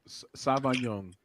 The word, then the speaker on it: Sauvignon: you say that okay don't try to read it just Savon young see you guys yes